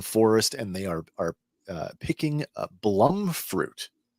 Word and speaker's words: blumfruit: and they are picking blum fruit. It's spelled bloom fruit with a U, but it's blum fruit. Judy Blum. Judy Blum, yeah.